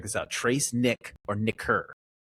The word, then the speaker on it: nicker: Trace Nick or Nicker. N I C K E R, that's a hard C K, by the way.